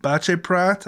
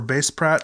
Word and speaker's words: Baceprot: But finally, I watched, I'm just gonna call them VOB, Voice of Baceprot, I think it's pronounced, or Baceprot, with the song God Allow Me Please to Play Music.